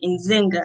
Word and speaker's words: Nzinga: must come from and he tried to say it perfectly he actually got it right on the first time um as you might say my name is stern zinger from rochester new york he said in zinger i said yes he was like okay